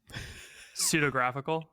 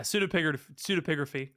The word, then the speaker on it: pseudepigraphy: If you can pronounce this word, I will Venmo you $5 right now. PSEUDEPIGRAPHY. Wait, okay, hold on. Say it one more time. No. Pseudographical?